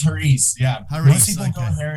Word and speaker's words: Hariz: Did I pronounce that correctly? I did. Hariz. Yeah. It's Hariz.